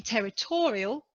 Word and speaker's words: territorial: the first syllable territory in territorial the adjective again the stress is on the third syllable just before the end so